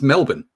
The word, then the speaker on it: Melbourne: though there's a it's Melbourne that's how you pronounce it you pronounce it Melbourne okay so the r is the RSI okay all right the r is silent and there's also a